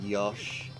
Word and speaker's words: Yoshi: the actual we Yoshi although it's almost always pronounced Yosh which is just like sometimes sometimes syllables with that have eyes and U's can just sort of like attach drop the I and the U and attach the syllable